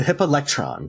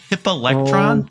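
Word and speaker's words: hippalectryon: He said I wanted him to say hippolectron. Yes. Hippolectrion, I think might be the actual pronunciation.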